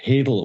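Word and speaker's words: hadal: how these jokes work hadel only rhymes with ladle and so you could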